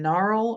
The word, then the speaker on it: gnarl: There's naw and gnarl and nat, right?